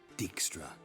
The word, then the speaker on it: Dijkstra: me oh you never know listen reuven no dickstra just not in the mood for your code